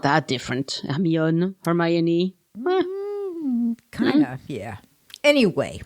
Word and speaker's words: Hermione: the word i went oh you mean the hermione and they thought i was weird so there you are the difference between pronouncing in english and pronouncing in french yeah it's not that different amion hermione kind of yeah anyway everybody's familiar with